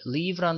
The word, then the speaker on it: leave: 자, 그 다음에 leave라는 단어 한번 볼까요? 자, 요건 같은 경우에는 li가 있기 때문에 li라고 발음하면 되는데 가운데 점 땡땡 있죠? 이거 같은 경우는 길게 발음을 해주라는 얘기입니다. 그래서 leave 이렇게 발음을 했고요.